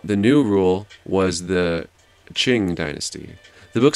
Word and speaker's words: Qing: did i say so q's are pronounced like chs the rise of the qing aka the manchus would